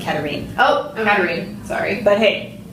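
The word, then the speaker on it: Katharine: Also, I pronounce it Katarine.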